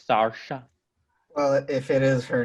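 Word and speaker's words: Saoirse: it like that apparently it's not sercia it's sarsha well if it is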